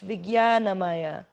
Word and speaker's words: Vijnanamaya: Actually, the pronunciation is Vijnanamaya. But for some reason, they decided to use a J for English spelling instead of the Y, which is what it sounds like.